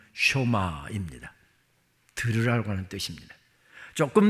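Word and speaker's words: שמע: 쇼마이 시루엘 이스라엘아 들으라 우리가 흔히 쉐마 새마 합니다만 정확한 히브리어 발음은 쇼마입니다 들으라고 하는 뜻입니다 조금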